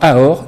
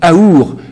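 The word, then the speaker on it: אור: Mais la lettre du milieu, qui est la lettre Vav, qui est représentée par le sourcil et le nez, se prononce aussi ou. Et donc on l'entend Aor ou Aour.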